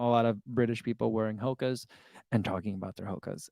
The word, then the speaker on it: Hoka: and Tyler's dimiletto says here in Mexico Hoka it goes hookah really that's interesting I